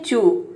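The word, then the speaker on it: chew: जैसे कि देखिए यहाँ पे एग्जाम्पल है चू, यहाँ पे ई डब्ल्यू सी एच के बाद ई डब्ल्यू आया है तो यहाँ पे ई डब्ल्यू को हम ऊ प्रोनाउंस करेंगे। सी एच का हो जाएगा च और ई डब्ल्यू का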